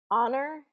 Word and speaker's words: honor: And I looked up the why this is and why we do this silent H on some of these words, and it really just